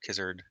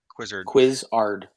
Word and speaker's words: Quizzard: And then Jason's character Kizzard. How do you say your name? Quizzard.